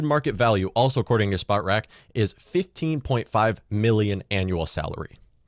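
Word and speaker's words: Spotrac: at it right now according to spot rack i think it's pronounced spot wreck the minnesota vikings are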